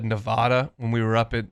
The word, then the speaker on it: Nevada: I said oh my gosh I said in Nevada when we were up it in Seattle for the Washington game in 2009 it's a Nevada no it's Nevada I said Nevada and this gal looked to